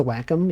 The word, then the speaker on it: Wacom: It's actually pronounced Wacom. You guys know that? It's pronounced Wacom. Like whack-a-mole.